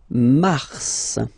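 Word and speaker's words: Mars: so in a way it's an exception because normally final s is not pronounced in French okay we've got some exception and this one is one of them so Mar pronounce the final s mar mar okay then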